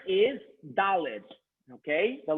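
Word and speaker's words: דלת: This letter is Daled, okay? The letter Daled. Please pronounce Daled 5 times.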